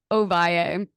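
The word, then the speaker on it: Ovalle: So is it pronounced Josh Ovale? Ovaye. Ovaye? Yeah. Mhm.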